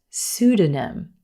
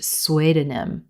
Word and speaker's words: pseudonym: way up until College this word is pronounced pseudonym pseudonym I don't know why but I looked at this word for the longest time and thought it was pronounced swedenim sweet in them I I don't even know where I came up with that but the p is totally silent in this word emphasis on the first syllable suda pseudonym and a